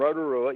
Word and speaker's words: Rotorua: So when they did come and pluck me, with car and all off that road going from Rotorua, you got it right, your pronunciation was dead set correct, from Rotorua to Auckland, I was like, what the hell is going on here?